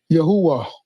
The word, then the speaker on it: Yahuwah: Yahuwah. That's how you pronounce it, of course.